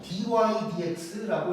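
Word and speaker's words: dy/dx: 제가 읽을 때는 어떻게 읽을 거냐면 위에부터 읽을 거야. 그래서 dx dx라고 읽는게 아니고 dydx라고 읽을 거예요.요 방향으로 읽을 거고 이게 무슨 의미냐면 y를 x로 미분했다라는 뜻이라고 생각하면 돼.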